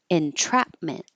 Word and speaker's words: entrapment: or interesting or interesting entrapment this was an example of the T staying a t because it's in the stress syllable even though it's after an N water attain comfortable USTA